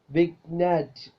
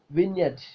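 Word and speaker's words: vignette: യ എൻ T point വിഗ്നറ്റ് വിഗ്നറ്റ് എന്നാണ് നമ്മൾ ഉച്ചരിക്കൽ പക്ഷേ അതല്ല അങ്ങനെയല്ല ഉച്ചരിക്കേണ്ടത് വിൻറ്റ് വിൻ യെറ്റ് വിൻറ്റ് okay G is Silent the sound piece Silent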